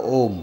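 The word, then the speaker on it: ॐ: Now, you all know Om, right? Om. So you also know that Om is made up of 3 syllables. What are the 3 syllables? Umma, what? A, U and Ma.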